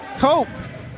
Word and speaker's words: Cope: Cope rhymes with hope.